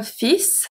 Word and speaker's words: fils: Un fils, very specific pronunciation.